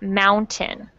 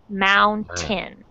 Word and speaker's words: mountain: A lot of Spanish speakers mispronounce the word mountain. It has that same sound, mountain. Okay. Mountain. Okay, and Okay, I want you to pretend that the second syllable, tin, is spelled T-I-N, tin.